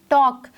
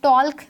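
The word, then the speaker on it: talk: silent letter है next टॉक तू टॉक something ठीक है बोलना टॉप को हम ताल नहीं बोलते हैं दिस इस प्रोनाउंसड स टॉक ल इस silent in this what next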